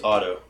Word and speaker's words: Auto: So my name's Otto. Otto. But it's spelled as A-U-T-O, Otto. Auto. Like automatic. Yeah, like automatic, but it's Otto.